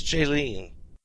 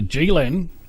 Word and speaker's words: JEELEN: Well, I never thought about it, but I figured it would be pronounced JEELEN in English. It's JEELEN. Why? I don't know. No, it's just Tony is an idiot. Ignore him. Because of the letters. Is an E always long? I pronounce it a GEELEN. Yeah. I'd prefer that.